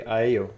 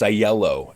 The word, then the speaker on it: Aiello: year with a really good friend uh aio did i pronounce the surname correctly it's the uh it's a yellow actually with the yellow yeah yeah no no